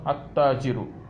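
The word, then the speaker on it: التاجر: But here when it is added together, it becomes attajiru. Attajiru. So in uruful qamariya, lam is pronounced.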